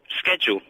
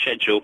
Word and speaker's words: schedule: You said schedule. Yeah, schedule. Yeah. Is it schedule? It's the English pronunciation is schedule.